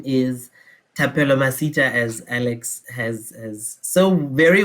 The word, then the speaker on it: Thapelo Masita: um good evening everyone uh my name is tapelo masita as alex has so very well pronounced uh which is not often the case